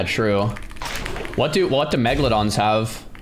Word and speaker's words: megalodon: I was saying Megalon forever and then everyone's like, "No, it's Megdalon." I was like, "Okay, finally, fine. I'll switch." And then Megalodon. There's no mega. It's not mega. Megalodon.